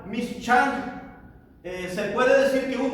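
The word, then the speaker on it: מִשְׁכָּן: De la palabra hebrea que se pronuncia mishkan, se puede decir que un tabernáculo es un lugar donde Dios habitaría.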